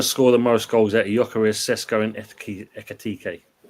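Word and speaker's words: Gyökeres: You is a silent g is yarez. So you know tell that to the Londoners. They call them glock. Glockarez.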